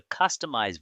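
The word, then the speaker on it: Kustomize: The second value shows the customized version pronounced as customize which indicates the built-in tool used for managing Kubernetes configuration files.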